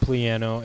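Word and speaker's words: Plano: out of the way it is pronounced pleano and just highlight cannabis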